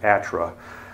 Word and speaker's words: ATRA: 2012 which mercifully the the acronym is now pronounced atra so we can get